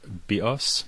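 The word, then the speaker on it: βίος: for this, the word bios means life in Greek, and the word bios, with the stress on the second syllable, means bow, as in bow and arrow.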